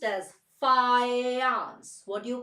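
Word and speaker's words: Fajans: famous law this famous law is written as F A J A NS but it is pronounced as fans what do you call it you pronounce it as fance it's not fajan rule that's what most of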